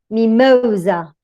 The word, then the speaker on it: mimosa: However, in words with a weak first syllable, the stress comes to the next one, to the middle syllable.